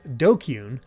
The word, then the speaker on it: DQN: the hell's a dqn Japanese netslaying pronounced dokyun used to refer to